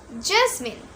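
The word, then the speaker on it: jasmine: জাসমিন। আমরা কিন্তু অনেকে এটার উচ্চারণ এভাবে করি জেসমিন। জেসমিন। কিন্তু এটার রাইট প্রনাউন্সিয়েশন কি হবে? জেসমিন। জেসমিন।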